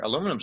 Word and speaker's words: aluminium: Aluminum's a reflector. Aluminium's a reflector. I keep saying aluminum, boy. That's we that's fine. in That's in fine. America mispronounced the term aluminium, and a company misprinted the word.